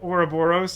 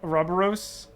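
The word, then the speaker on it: ouroboros: know I feel like I'm used to it being pronounced like oroboros not roboros can you put your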